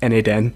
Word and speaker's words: n8n: a lot of people should i call it na10 should we call it notemation so we just made it expeditious like pronounced na10 okay thank you so